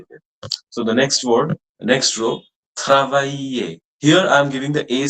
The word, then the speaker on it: travailler: Whenever a word is ending with ER, especially the verbs, like this is a verb, so we pronounce that ER as A. Okay. Otherwise, only E at the end is never pronounced. So it's travailler, travailler, travailler, travailler, travailler, travailler.